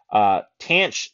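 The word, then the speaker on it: tanh: Tanch, tanch is how it's pronounced.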